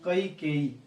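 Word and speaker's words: कैकेई: सही उच्चारण जो है उसका क्या है? कई केई, ये है सही, कई केई, कई केई, ये इसका सही है।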